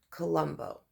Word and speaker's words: Colombo: India, is called, or what looks like phonetically, Colombo. The sound to my ear sounds like a TV show that North America had aired before I arrived.